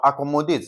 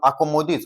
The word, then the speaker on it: accommodate: And that is the syllable that is third from the end is being stressed. Okay, now look at this particular word, accommodate.